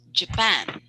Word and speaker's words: Japan: you say japan so you're putting the stress on the second syllable so this is to be uh to be pronounced japan can you say that